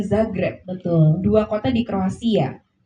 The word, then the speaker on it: Zagreb: Ternyata bacanya adalah Grosnyan dan Zagreb.